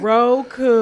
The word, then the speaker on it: Roku: Roku.